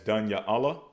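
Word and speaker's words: דניאל: Okay, so we pronounce Daniel as Danya Allah. Danya Allah. They pronounce it as Daniel. Daniel.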